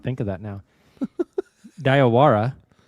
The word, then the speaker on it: Diallo: Uh Diallo? Is that how you say his name? Diallo? Yeah. I told Carrie tonight that his last name sounds like if you like have a lisp and you're saying diarrhea.